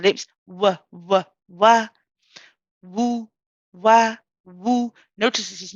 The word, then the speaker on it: واو: This is a letter of the lips. So we're going to use both lips, the upper and the lower lips, use the sound of the letter waw.